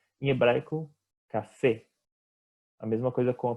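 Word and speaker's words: קפה: Então, essa é uma outra dica importante em relação à pronúncia em hebraico, que a gente procura sempre deixar as vogais fechadas, né?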